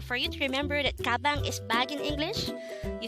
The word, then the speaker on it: 가방: Gabang could be divided into two syllables, ga-bang. Ga is formed from the combination of the sounds of kiak and a, while bang is the combination of the sounds of biap, a, and iyong.